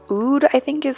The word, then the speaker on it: Oud: And then I pulled out the Huda Beauty Desert Dusk palette, and I'm using this shade called Oud, I think is how you pronounce it.